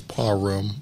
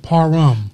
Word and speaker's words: Parham: contribute in writer coach Parham am I pronouncing your last name correctly the hood say Parham the correct way is Paul room but param it's all right okay is that French Genesis